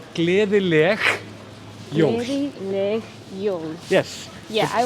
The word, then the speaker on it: Gleðileg jól: well to you that if you're Scottish, it's a bit easier because the soft G sound is a little bit like how we say the word loch. Yeah. It's that same sound at the end.